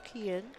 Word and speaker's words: Kian: Number 5's name is pronounced as Kian.